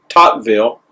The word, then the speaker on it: Tocqueville: on the internet and that's the way you pronounce it Tocqueville he said this nothing is more wonderful than